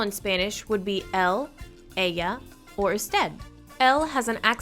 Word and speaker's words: ella: Ella. Usted. Now remember, the double L is pronounced like a Y, so it's not ella, it's ella.